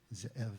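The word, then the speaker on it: זאב: They're based in Alexandria, West Virginia, and the owner, the head honcho, his name is Zev Wexler, and his name in Hebrew would actually be pronounced Ze'ev, and it means wolf, and he's very proud of that.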